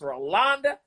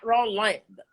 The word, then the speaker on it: Rolonda: And by the way, it's not you, but Rolonda has an O in the middle. Rolonda. It's Rolonda, not Rolanda.